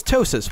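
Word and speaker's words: ptosis: my entire life um it's tosis with a silent PE in the front um plenty of great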